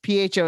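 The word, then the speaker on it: phở: Yes, PHO is pronounced pho.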